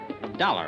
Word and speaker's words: Dollar: Dollar, huh? Yeah, rhymes with collar.